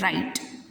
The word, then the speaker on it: write: मैंने यहाँ लिखा WRITE, इसमें W तो है बट W इसमें साइलेंट है. हम इसको पढ़ेंगे सिर्फ राइट.